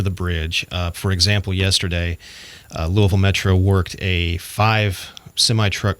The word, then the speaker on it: Louisville: I'm thinking yes yeah you hear Lewisville Louisville it's it's Louisville it's Louisville kind of just yeah just kind of rolls right off your tongue and if you don't